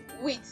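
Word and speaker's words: huit: So can we see that the H is silent in French language? You just hear wit.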